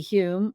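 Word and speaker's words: Home: light but famous physical mediums such as DD Hume which is one of who is one of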